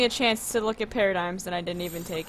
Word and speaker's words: Paradigm: Patagrams. No, it's Paradigm.